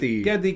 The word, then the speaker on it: Geddy: Fun fact, when he was young, his Hungarian grandmother could not pronounce Gary. Really? Yes. Oh, so she pronounced yeah. Gary, Geddy Kavir.